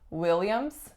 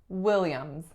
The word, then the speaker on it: Williams: for the fact that the final letter S is in fact voiced so it's not Williams it's Williams Williams next up we have